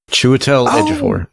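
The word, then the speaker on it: Chiwetel Ejiofor: Chewidel edophore which I also probably chewel edaphor. Yeah chewel. Yes. I always put the emphasis in the wrong place. The obsesses on the wrong sal.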